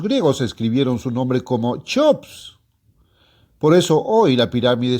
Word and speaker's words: Cheops: Los antiguos griegos, al usar el nombre de Cheops, pronunciaban las letras CH casi como si fueran una H.